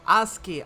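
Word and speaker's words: ASCII: net art I believe is how do I pronounce this way aski art on 9s Message Board people couldn't post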